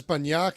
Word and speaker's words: Banyak: Both are acceptable, but it's more Banyak. But you'll get corrected every time. Yes. Banyak, because that sounds like BUN.